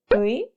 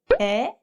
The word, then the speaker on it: 의: Do you know how to pronounce this in Korean? 으이, 에, 이. The answer is all of them.